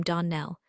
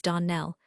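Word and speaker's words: Donnell: ClariS Almira told me that you pronounced our name Darnell. Now, Miss Shirley, the correct pronunciation of our name is Donell. Accent on the last syllable.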